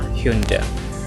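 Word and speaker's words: Hyundai: ह्यूंडई, ह्यूंडई या फिर ह्यूंडाई पढ़ देते हैं, लेकिन इसका क्या हो जाएगा? करेक्ट प्रोनाउंसिएशन है ह्यूंडे, ह्यूंडे, नॉट ह्यूंडाई और ह्यूंडेई।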